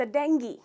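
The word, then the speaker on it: dengue: डेंगू या डेंगी? इसको हमने डॉक्टर्स के तरफ से भी डेंगू बोलते हुए सुना है, डॉक्टर्स को भी, पर अफसोस इसका करेक्ट प्रोनाउंसिएशन है डेंगी। तो ग्यू नहीं है, ई साउंड है।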